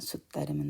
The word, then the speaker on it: sutta: 그래서 여기 같은 경우에 그냥 숫다. 여기도 마찬가지로 길이가 숫이 조금 더 길죠. 그다음에 따는 짧게 그래서 숫다 이런 발음이 됩니다.